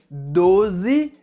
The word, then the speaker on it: doze: devem ser pronunciadas assim: 12 com a letra O fechada, a letra Z com o som forte e a letra E com o som de I ao final.